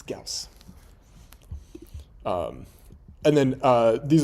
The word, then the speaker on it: Gaussian: Um but they all pronounce this wrong. Uh they call this gauian. Um it's Gaus.